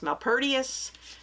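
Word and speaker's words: Malpertuis: Is it Mal Malpertius or Malpertis? Malpertius. I'll show you the title.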